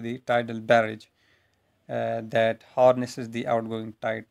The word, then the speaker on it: barrage: Let's now have a look on this tidal barrage or barrage, whatever is the pronunciation. Actually, it's barrage, tidal barrages.